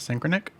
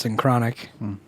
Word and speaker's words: Synchronic: like a stupid-ass name it's not synchronic um i mean i'm sure you could pronounce it like that but i'm pretty sure everyone in the movie says thing chronic because it's named after a drug pulling like the chronic yeah it's like a